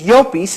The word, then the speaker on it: Llopis: And every time you get a business card of mine, it says Llopis, and right next to it is the phonetic pronunciation.